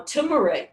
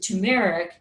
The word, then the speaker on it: turmeric: after the meal now turmeric turmeric or some of you pronounce it tumeric a spice in your